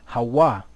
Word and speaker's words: Hawa: So we know that there's no V in the Hebrew, so really what should it be? Hawa.